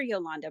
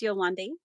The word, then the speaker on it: Yolande: Oh, I call her Yolanda, but it's Yolande. Is that Yolande. Yolande? Yolande. Silent. The E is silent.